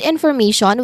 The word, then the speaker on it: information: Here we stress just before the suffix. We stress just before the t iO. In the word information, we use the t io n suffix.